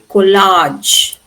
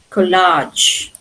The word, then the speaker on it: collage: Here you can say collage. Collage. Collage. But here they say collage. Collage. Can you see the difference? But this has retained the French pronunciation.